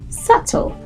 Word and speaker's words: subtle: next time you see don't say subtle say subtle okay number nine now I myself when I